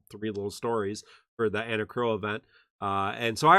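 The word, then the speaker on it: Enna Kros: a new character and her name is anna crow because in some world that's how you pronounce those letters i don't know that that's how you pronounce those letters in this world but in world of final fantasy e-n-n-a k-r-o-s is pronounced anna crow um i uh pisses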